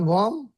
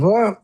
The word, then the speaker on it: warm: Say the word warm. Worm. W. Wait. Wait. Hang on. Worm. Worm. Worm. Worm versus warm.